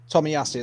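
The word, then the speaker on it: Tomiyasu: to you again is it Tak Tommy yasu Tommy yasu that's it sorry um so yeah there's there's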